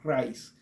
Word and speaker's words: Rice: se menciona la r y el segundo apellido rice Rise en e para mencionarlo en español sería Rise pero rice para mencionarlo digamos más correctamente John r Rise Como